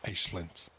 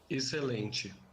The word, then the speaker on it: excelente: For example, this word, meaning excellent, in European Portuguese Excelente. Excelente. and in Brazilian Portuguese. Excelente.